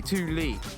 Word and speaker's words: Thule: I got this insane roof box sent to me by Thule, and they said, it is pronounced Thule by the way, Thule, it's Swedish.